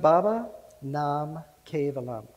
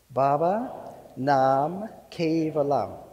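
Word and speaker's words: Baba Nam Kevalam: in sanskrit that can open your heart it's pronounced baba nam cave alum you want to repeat that after me baba nam cave alum let's do it again baba nam perfect so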